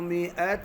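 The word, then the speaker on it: مائة: 100 عام 100 عام अब जो है ना 100 ये जो अलिफ है ये साइलेंट है और हमजा को आइन ना समझे 100 عام 100 عام فانظر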